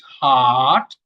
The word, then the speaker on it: heart: Now, in the long sound, you see, some people say hurt, it's wrong. It's heart, but R is not there in the pronunciation.